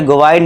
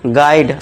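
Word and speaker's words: guide: इसे गोवा गाइड नहीं पढ़ेंगे। इसे क्या पढ़ेंगे? गाइड आ का साउंड गाइड। ये तो ऐसे गोस्ट नहीं गेस्ट। यहां पे के देखिए दोस्तों हम इस यू को साइलेंट कर देंगे।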